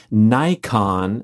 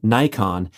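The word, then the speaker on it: naikan: wrote a book called nikon that's a japanese word sounds like the camera but it's spelled n-a-i-k-a-n the book is called nikon attitude grace and the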